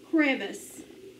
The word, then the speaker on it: crevice: of a crevis no so it needs to be a short sound so divide after your c consonant divide after the v accent on the first syllable vowel followed by a consonant is short that's why we divided there to keep it short now crore crab us